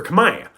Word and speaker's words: Khmer: the language you see in Old kamay the letter R was always pronounced so kamay would have actually been pronounced kamay but as the language evolved most dialects went through a sound change where the letter R was lost at the ends of syllables that change should look